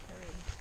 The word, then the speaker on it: Kerið: Kerið. Kerið? Yes. That's it. Just throw a little accent on it. Kerið.